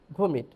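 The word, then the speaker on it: vomit: এই শব্দটা উচ্চারণ করতে গেলে ইংলিশে এরকম আসবে, ভৌমিট, ভৌমিট, ভৌমিট। মিটের উপর চাপ কম আসবে, অর্থাৎ স্ট্রেসটা, চাপটা একটু কম আসবে শেষ সিলেবালের উপরে।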